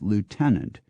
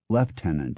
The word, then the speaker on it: lieutenant: English schedule and with our standard pronunciation of Lieutenant which was then widely pronounced leftenant in America as it still is in England today but just as he